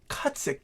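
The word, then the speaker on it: Kutzik: and they had my last name which is cutsick k-u-t-z-i-k um is my middle name and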